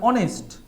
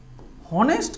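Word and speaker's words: honest: যেমন এগুলো খুব সোজা, অনেস্ট, হনেস্ট কিন্তু আমরা উচ্চারণ করি না, তাই এইখানে অ্যান হবে, অ্যান অনেস্ট ম্যান। কথার কথা আমি যদি বলি, যেহেতু এইচের উচ্চারণ হচ্ছে না, এইচের উচ্চারণটা থাকে হচ্ছে সাইলেন্ট বা নীরব। এইচের উচ্চারণ যেহেতু হচ্ছে না, উচ্চারণ হচ্ছে অ, মানে ও এর উচ্চারণ, সেই জন্য অ্যান হলো।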